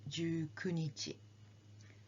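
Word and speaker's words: 十九日: one please repeat now some people will say but you see is more correct now people will not say you kunichi so you have to remember this as ju kunichi 20th is hatsuka similar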